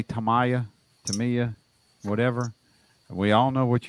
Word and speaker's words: Tamiya: in a chat, and she said that it's pronounced the way that they pronounce it in Japan is Tamiya.